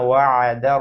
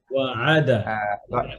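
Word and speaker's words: وعد: হাযা মানে এটাই, মা ওয়া'দার রহমান ওয়াআদা, এই যে জবরটা ওয়া'আদ হ্যাঁ, ওয়া'আদা হ্যাঁ। আমরা বলি না ওয়াদা, এই যে ওয়াদা, জি বুঝছেন?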